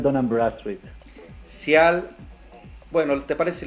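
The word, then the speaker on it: Dun & Bradstreet: Él me corregirá cuál es la pronunciación correcta, pero es Cial Den An. ¿Cómo se pronuncia, mi estimado Adrián? Bienvenido, ¿cómo estamos? Buenas tardes, Miguel. El nombre es Cial Dunham Bradstreet.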